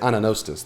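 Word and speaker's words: anagnostes: Anostis. That's it. Anostis. The G is silent.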